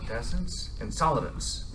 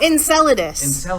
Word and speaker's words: Enceladus: mentioned something about five minutes ago in solid Essence in solidus did I I'm saying it wrong what is